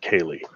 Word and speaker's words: Ceilidh: And the way he spelt it, we did not know that that's how it was pronounced. Right, yeah. Was it Ceilidh? Yes. We would have never guessed that said Kaylee.